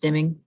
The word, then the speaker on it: stimming: That's a form of stimming. I've heard it pronounced stemming, and I've heard it pronounced stimming. It's spelled with an I, so I will say stimming.